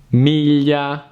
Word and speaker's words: miglia: Another hard combination to pronounce in Italian is gli, as in aglio, garlic, miglia, miles, meglio, better.